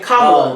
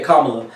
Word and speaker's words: Kamala: And Kamala, there we go. I keep saying her name wrong. Yeah, Kamala.